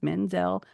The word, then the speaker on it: Menzel: It rhymes. Menzel, Bell, and Arendelle.